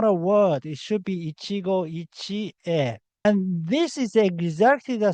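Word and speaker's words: Ichigo Ichie: So Ichigo Ichi is not a complete word. You need e. The correct way is Ichigo Ichi E. Ichigo Ichi E is the correct phrase, not Ichigo Ichi.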